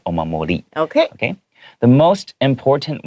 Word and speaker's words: omamori: If I pronounce it like in American English, I would probably pronounce that last R with a hard R. 哦。 Omamori. Okay. So because it's Japanese, usually the R sound is not as hard 没错。 as American English. 没错。 So that's why I'm pronouncing it omamori.